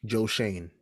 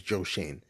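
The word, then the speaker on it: Schoen: the giants are interviewing joe shane or it's spelled shone but his name is joe shane to be gm yeah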